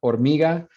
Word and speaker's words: hormiga: Hormiga, that H is silent. So if you're going to represent its phonemes, that H is not a phoneme. That's just an orthographic symbol. When you say it, you don't say hormiga, you say hormiga.